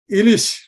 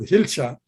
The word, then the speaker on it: Ilish: Ilish fish, but in English, they mispronounce as hilcha.